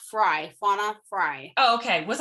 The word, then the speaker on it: Frey: So it is pronounced Frey, Fauna Frey. Oh, okay. Was I saying Frey? You were. Okay, sorry. Everybody does, because it's spelled like that, but it's actually pronounced Frey, Fauna Frey.